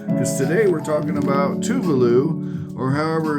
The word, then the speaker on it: Tuvalu: today we're talking about Tuvalu, or however it's pronounced. Let's talk about it. Pronunciation of Tuvalu. Here we go. Are you ready? Tuvalu. Tuvalu, just like I said it. Yay! We got it right.